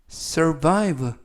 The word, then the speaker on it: survive: 이번 표현은 survive survive survive라고 발음하시면 되겠고요 강세는 알파벳 아의 강세가 있습니다 그래서 survive 발음하시면 더 좋겠고요 품사는 동사 뜻은 살아남다